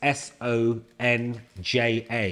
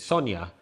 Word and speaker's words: Sonja: So you guys should understand it because in Europe when you say J it's not J it's a Y. Right. So uh like the name Sonia it's S O N J A. Yeah. That's how they spell it in Eastern Europe. Right. But they say it's not Sonja, it's Sonia.